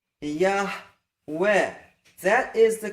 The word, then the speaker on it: Yahweh: And by the way, don't say Yahweh. That's not a chet. It's just a guttural hey. It's not such a sharp guttural. In fact, in general speech, you'll hardly hear that guttural hey. Yahweh.